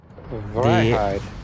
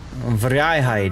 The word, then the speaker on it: Vrijheid: Hey, I learned how to pronounce a boat today. What's that? Vrijheid. Vrijheid, yes.